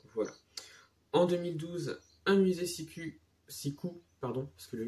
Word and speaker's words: Siku: En 2012, un musée Siku, parce que le U se prononce U, enfin le U se prononce OU en allemand.